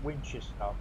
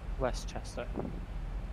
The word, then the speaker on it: Westchester: To Winchester. Westchester. Oh, it's Westchester.